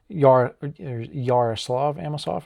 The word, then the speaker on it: Yaroslav Amosov: Yaroslav Amosov, I believe, is how it's pronounced.